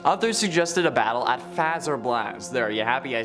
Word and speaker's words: Fazer Blast: at Bonnie ball others suggested a battle at fazer blast there are you happy I said it right